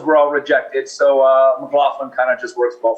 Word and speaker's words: McLaughlin: little different and my last name is mclaughlin m-c-l-a-u-g-h-l-i-n and it's easy to remember because it's got